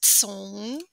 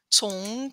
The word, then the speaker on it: 从: Cong with the C is pronounced TS, cong, cong dao.